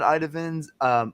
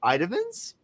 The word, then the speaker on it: Itamins: you kind of found Itamins? I is it Itamins? Like how do you say Vitamins. it? Itamins, Yep. It's just Itamins. like vitamins for your Can you eyes.